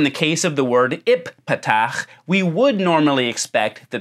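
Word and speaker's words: ephphatha: letters are being doubled so in transliteration it would be ipat but it's possible that in the dialect that stands behind the word that's being quoted here that both of these letters would have had the soft pronunciation in this word now we don't have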